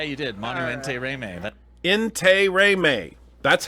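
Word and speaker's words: Intiraymi: it right yeah you did mano ante remain in Turay may that's how he pronounced it not inter int he man who himself pronounced it in Terry mate and so so that's why I'm trying to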